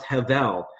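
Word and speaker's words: הבל: The Hebrew word for a vanity is hevel, but it's spelled with a B. So H-E-B-E-L, soft B, pronounced hevel.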